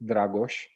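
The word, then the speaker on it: Dragoș: i'm uh uh so my name is dragosh i know that for some of you it may be hard to pronounce i'm going to say it one more time so it's dragosh um i'm romanian uh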